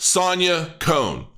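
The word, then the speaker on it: Sanja Kon: I believe her name her name is pronounced Sonya Cohn I could be wrong and not to be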